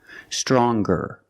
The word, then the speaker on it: stronger: r or with est we're going to pronounce the G sound the hard G so it's younger G with a G sound stronger the youngest again with